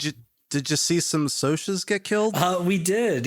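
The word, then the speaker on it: Socs: Did Did you Did you see some Sosas get killed? Uh, we did. Yeah. Spoilers. Uh, do they pronounce it so or sock in this? Sos.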